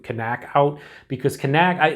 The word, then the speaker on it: Knack-Out: about this one now I think it is pronounced technical uh knockout as opposed to canac out because connect I like